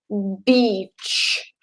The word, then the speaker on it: beach: look word beach okay you need to stretch it out it's sort of needs to be with a double e so the pronunciation needs to stretch because if you don't stretch it you're swearing at me and if you swear